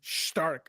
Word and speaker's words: Stark: on right now I there's no h in it why are they doing it dude yeah yeah it's how you say it in German Stark yeah you know what